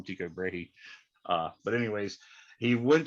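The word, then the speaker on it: Tycho Brahe: heard of kepler and very few people heard of teego brahe which i think is a more proper pronunciation but i call him tico brady uh but anyways he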